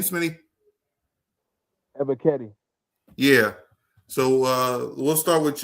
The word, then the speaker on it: Ebiketie: Ebiketie.